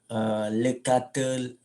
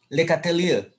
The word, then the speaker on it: Le Chatelier: aneh Puncak hebat buat kita nggak terbiasa saya bacanya Le katel loh Oh ya oke Carrefour Carrefour dan tercela itu cara bacanya kesamaan dengan tulisannya dekat klien Ashley gatel yo iyo Pak Le chatelier lega Trio Macan gitulah ya Le chatelier Kalau